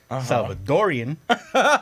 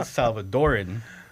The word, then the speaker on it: Salvadoran: So Salvadoran, the most popular term is Salvadorian. R I A N or R E A N. Okay. So most people will say it Salvadorian. Yeah. But it's spelled Salvadoran.